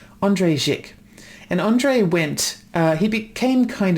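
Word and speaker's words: Jikh: His name is Andre, I think you pronounce it Zik. Andre Zik.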